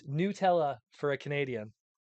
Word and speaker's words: Nutella: Nutella's pronunciation again, please.